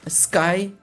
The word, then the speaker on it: SKI: Um do you pronounce it as as Sky or you say ski consultant? Sky is right.